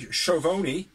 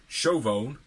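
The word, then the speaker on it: Schiavone: we had a promo from uh with tony chovoni which is a name is actually pronounced tony chauvon uh and it was thunder rosa issues an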